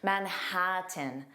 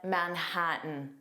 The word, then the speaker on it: Manhattan: Notice that N part would be pronounced as an unstressed tin. Manhattan. Manhattan. But I listened to the first 20 clips on the website English and zero of the speakers used this pronunciation. All speakers used the glottle stop and said Manhattan.